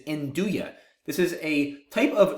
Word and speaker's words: nduja: for it's apparently Uya spelled n d u j a once again it's not induja it is Uya this is a type